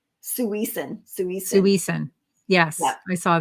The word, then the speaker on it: suisen: someone Sarah said it's suisen su su yes I saw that so she says all syllables are equally accented don't emphasize the second syllable suis and did we